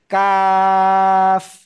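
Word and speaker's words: كاف: জিহ্বার গোড়ায় এই যে যে যে যে, হ্যাঁ, একটু আগে বাড়িয়ে, একটু আগে বাড়িয়ে, তার বরাবর উপরে তালুর সাথে লাগিয়ে কাফ, 4 আলিফ টানে উচ্চারণ করতে হবে।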